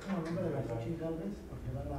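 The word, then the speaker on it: Xóchitl: Entonces este es esdrújula. Exactamente. Xochitl es esdrújula.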